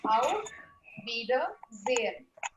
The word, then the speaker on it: Auf Wiedersehen: You have to say auf, wieder, sehen.